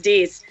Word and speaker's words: Dease: you're a married woman your name is DS so that's how you say it DS I stand corrected that's